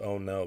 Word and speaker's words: ono: The Spanish name of that fish is Ono. O-N-O. I think it's O-N-O. And they pronounce it Oh No because of how fast that fish is.